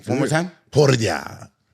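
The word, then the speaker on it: Poirier: great job with Dustin yeah that's how you pronounce his name one more time por sounds amazing it's not bad so we're going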